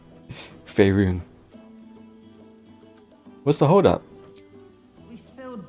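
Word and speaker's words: Faerûn: Fey Run. She still isn't saying it right. Faerun.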